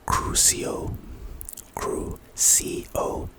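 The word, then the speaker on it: Crucio: aerio the second unforgivable curse on this list pronunciation cruo Creo type curse purpose inflicts intense excruciating pain on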